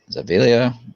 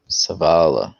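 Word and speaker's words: Zavala: it's going to be savvies of zavelia i probably butchered that name um savala there we go sebby savala i learned over the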